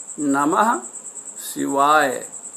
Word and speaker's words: नमः शिवाय: video में बताया है कि नमः शिवाय का शुद्ध उच्चारण ऐसे करें ना महक शिवाय क्या नम्ह शिवाए ओम नमः शिवाए नमः